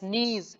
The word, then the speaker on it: knees: KNEES, नीज. के इसमें silent है, नीज मीन्स घुटने.